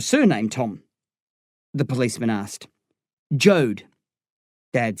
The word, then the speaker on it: Jode: Jode, Dad said. How do I spell that? The policeman asked. Jed like Toad, Dad said.